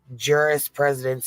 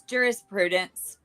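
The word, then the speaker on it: jurisprudence: frequently reference Federal Rico Juris Juris presidence and I'm sure I just said that wrong I Juris Prudence butchered it to interpret those requirements what babe sorry it's jurist Prudence thank you I appreciate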